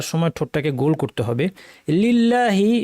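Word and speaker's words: لِلَّهِ: ঠোটটাকে গোল করতে হবে লিল্লাহি শব্দে লামে জের থাকায় লামটা পাতলা হবে লিল্লাহি হবে লিল্লাহি নয় রব্বি এখানে রটা ভারী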